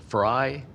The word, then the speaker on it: Frey: My name is Frey, as in French fry, even though it's spelled Frey.